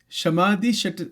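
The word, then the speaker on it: शम: third one is called shamadi sati. So sham is what we were looking at you starting to look at yesterday. Shamaha in Sanskrit it is called shama that is how it is pronounced right.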